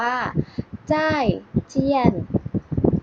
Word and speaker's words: 再见: สอง พยางค์ เท่า นั้น คือ คำ ว่า จ้าย เจี้ยน จ้าย เจี้ยน เด็ก ๆ เรา ออก